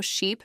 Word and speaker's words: sheep: Do you notice how sheep makes your lips stretch more?